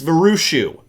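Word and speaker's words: Vraciu: famous picture of Alex varushu I only know how to say his name because I've watched many interviews where you say it's just like cashew which because if you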